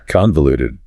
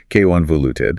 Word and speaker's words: convoluted: Convoluted. Convoluted. Convoluted. Stress on the first syllable. Second one is a schwa. Convoluted.